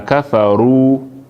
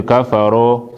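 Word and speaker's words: كفروا: get dhamma na kafaru, where you pronounce the dhamma ya mouth in it for form, in it for project in front. Not be kafaro. So when they feel it and say kafaro, na kafaru.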